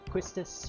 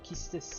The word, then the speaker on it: Quistis: pleasure mom honestly uh questus or quistis as i like to pronounce her even though it's wrong but i still pronounce it that way selfie who i